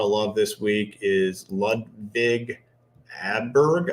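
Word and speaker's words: Ludvig Åberg: A guy that's getting a lot of love this week is Ludvig Adberg, I believe is how you pronounce his name.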